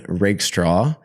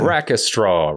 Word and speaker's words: Rakestraw: Most people are like rack straw. Rack rack straw. And I'm just like, it's it's the word rake and the word straw buted up against each other.